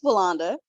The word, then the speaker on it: Walanda: Walinda, I think. I don't want to say your name wrong. You got it right the first time. It's Walanda.